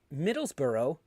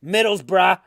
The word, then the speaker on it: Middlesbrough: nottingham forest you know every every time i hear somebody go middlesborough and i'm like no no you get you gotta pronounce it like um like somebody from long island who really wants the middle seat on a plane and as you're walking up on the plane he goes middlesbrough like they're calling for